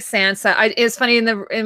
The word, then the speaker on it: Sansa: one of the showrunners he says Sansa Sansa which sounds really pretentious yeah I still my favorite pronunciation of it is a the way that Littlefinger used to say it lady Sansa he should have been